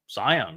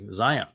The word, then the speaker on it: Zion: pronounce the Hebrew Wah, look to a word like Zion. It's always the O sound, isn't it, in Zion? That's delivered from the Hebrew Wah.